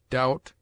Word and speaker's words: doubt: It is mute in debt, debtor, subtle, doubt, lamb, limb, dumb, thumb, climb, comb, womb.